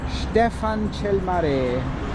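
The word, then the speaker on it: Ștefan cel Mare: Stefan Chelmare. Did I pronounce it correctly?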